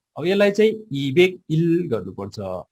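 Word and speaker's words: 이백: भनेको फेक हुन्छ है यो 200 लाई चाहिँ इबेक अथवा इफेक्ट है यो इफेक्ट नगर्नुस् इबेक गर्नुपर्छ यो पछाडी आएको हामी चाहिँ इबेक बलाई ब नै उच्चारण गर्नुपर्छ ओके ल अब 200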